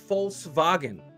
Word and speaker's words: Volkswagen: Now that I know how to say it, will I continue to say Volkswagen? Probably. Now, will I know how to pronounce it? It's Volkswagen.